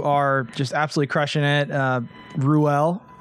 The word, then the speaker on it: Ruelle: just absolutely crushing it Ruell pronouncing it right yes correct how many different wrong pronunciations have you go there's so many I think rule is the most popular though rule so not rule that's like the Mississippi pregnancy yeah for sure well